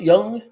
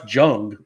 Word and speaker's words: Jung: Jake Berger Max the million myy Josh J young I'm just joing it's young um I bought